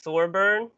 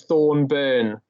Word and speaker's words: Thorburn: get that right um for some reason an n an n creeps in all the times there's always thorn burn there's like a silent